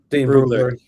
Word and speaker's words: Brugler: Brugler? Boogler? How do you say his name? Brugler.